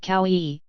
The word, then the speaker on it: Caoi: So when a native speaker says my name, it may sound like cowi, very similar to Maui. However, there is a difference because really the O is still pronounced a little more.